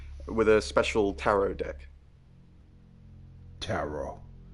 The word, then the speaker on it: tarot: a special Tarot deck tarot I always pronounce it terot cuz it has a t at the end of it it's pronounced tarot interesting